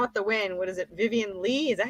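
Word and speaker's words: Vivien Leigh: Vivian Lee? Is that how you say her name? Yeah. Vivian Lee.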